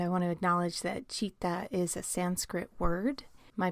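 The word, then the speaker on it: citta: We've got Dolly Parton-style frontal lobes, which results in an experience that yogis will know as chitta.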